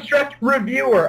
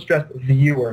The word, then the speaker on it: Stressed Viewer: bring back stress review they always say it wrong too they're always like bring back the stress reviewer i'm like first of all his name was stressed viewer not not reviewer viewer and secondly we're not